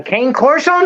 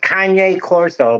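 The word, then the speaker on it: Cane Corso: A King Corso? Look at her. It's this big dog. You never heard of a King Corso? It's actually pronounced Kanye Corso, but whatever.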